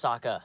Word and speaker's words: Sokka: My name's Sokka. Rhymes with Akka and Waka Waka.